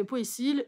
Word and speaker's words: Poécile: Donc, alors que Poécile, ça percute plus parce qu'ils sont Poécile. Et du coup, voilà. Mais sinon, ça se prononce Pécile, hein, faut pas déconner non plus.